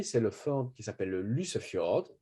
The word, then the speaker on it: Lysefjord: C'est le fjord qui s'appelle le Lysefjord. Lysefjord Y, en général, ça prononce plutôt U en norvégien.